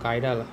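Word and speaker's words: chiral: করাইল যৌগ করাইল কম্পাউন্ড এখানে কাইরাল উচ্চারণ কাইরাল হ্যান্ডেড ও অপ্রতিসম কার্বন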